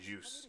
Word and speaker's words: Zeus: Like Zeus, I always thought it was a Zeus alongside, but it's like juice. You say like juice. Like you're drinking a glass of juice.